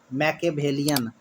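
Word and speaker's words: Machiavellian: बाद क्या है मैक मैके वेलियन मैके वेलियन देखिए एम ए सी एच आई माइके ए एम एी एच मचिया मचिया को मैकिया बोलेगे और वेलियन ए आल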